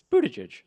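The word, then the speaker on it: Buttigieg: there's an easy way to do this it's Buddha judge well in what's even so my one of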